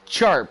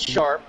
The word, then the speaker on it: Charpe: And I just want to confirm: is that Sharp or is that Charp? CHARPE. It's Sharp.